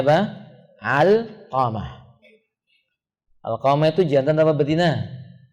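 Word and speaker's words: علقمة: Bacanya apa? Alqamah.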